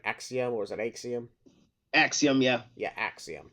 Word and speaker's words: Axiom: Axiom, yeah.